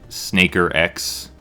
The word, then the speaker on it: SNKRX: delvie and we're playing snaker x it's uh spelled snk rx i got the pronunciation from the developer and uh this this